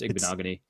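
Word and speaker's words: Igbinoghene: It's pronounced Igbenogany. Yeah, Igbenogany.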